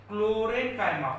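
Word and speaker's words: chlorenchyma: Spelling को concentrate करो, इसको बोलते हैं क्लोरेन्काइमा।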